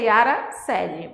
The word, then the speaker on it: Yara Coeli: Lembra, a pronúncia é Yara Celi, mas escreve-se C-O-L, tá?